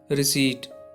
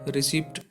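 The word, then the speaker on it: receipt: The first word is रिसीट, जिसका मतलब होता है रसीद। यू नो समटाइम्स पीपल से this word रिसिप्ट, रिसिप्ट, इट्स नॉट ए रिसिप्ट, that is called रिसीट, रिसीट।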